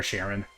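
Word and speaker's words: Charon: oh yeah Karen uh I'm trying to pronounce cheron correctly c h a r o n but I always forget what the correct Greek pronunciation is so I go back and forth Karen or Sharon or Sharon artsy yeah Karen Karan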